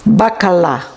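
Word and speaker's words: baccalà: bakalo how do you say codfish in Italian bakala oh it's almost the same it's almost the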